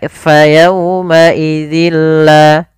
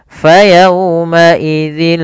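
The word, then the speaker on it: يَوْمَئِذٍ لَا: nunnya menjadi huruf lam, maka fayawma idzillah. Nah, tidak boleh ditahan. Misalkan fayawma idzillah, tidak. Nah, ini kok salah bila kita menahan huruf lam ya.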